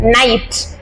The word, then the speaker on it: knight: நைட், KNIGHT நைட்ல கே வந்து silent ஆயிரும்.